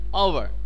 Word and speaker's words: hour: Let us rest for a quarter of an hour. Why use an here? Because your H is silent.